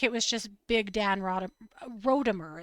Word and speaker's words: Rodimer: It looks to me like it was just big Dan Rodimer. It's not Rodimer. It's Rodimer. Oh, okay. No, no, no. God, it's Rodimer.